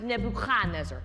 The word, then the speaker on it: Nebuchadnezzar: Also, earlier you said Nebuchadnezzar. In Hebrew it would be pronounced Nebuchadnezzar. More in the back of the throat.